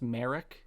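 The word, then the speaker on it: Marrok: I think it's pronounced Merrick, but Merrick. You are correct.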